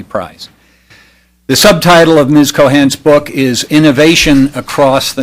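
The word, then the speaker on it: Keohane: century uh as difficult as it is to pronounce entrepreneurship uh the Cohan is in fact the correct pronunciation of that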